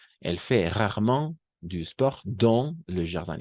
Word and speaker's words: dans: Y este no va a ser dance, sino dans. Nuevamente, AN va a ser ON. Sí, lo sé, no estamos habituados a eso, pero es así el francés. On. AN vamos a pronunciar como una on.